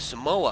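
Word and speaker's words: Somua: We have the Sumwa, or the Samoa I've been previously told is pronounced, and it lost 10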